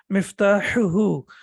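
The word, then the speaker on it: مفتاحه: So the first one is both of them are from the throat, but this one is sharp. So we say miftahuhu and miftahuha.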